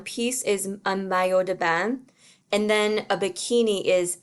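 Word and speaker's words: bas: a skirt and de ba which is tights and that s at the end of ba is silent as a normal final s would be in french so it's kind of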